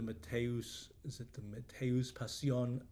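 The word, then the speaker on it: Matthäus-Passion: But I was thinking like the Matthäus Passion. I know some German, that's a German pronunciation more or less of Bach's Easter oratorio.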